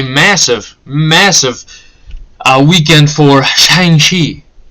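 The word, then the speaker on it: Shang-Chi: massive uh weekend for shangshi that's how you say it in the ad so that's how i'm going to say it as a cultural appropriation i apologize if it is please don't get me banned that's how they say in the ad i'm just trying to say it properly okay this is one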